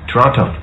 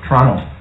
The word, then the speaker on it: Toronto: where were we born toronto toronto canadians don't pronounce the t some comate guard is